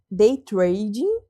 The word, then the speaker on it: day trading: Qual que é a pronúncia certa? É day trading.